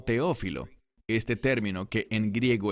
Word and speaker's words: Teófilo: Y noten que dice aquí que está escribiéndole a, literalmente dice en griego, Teófile. Normalmente pronunciamos esto como Teófilo.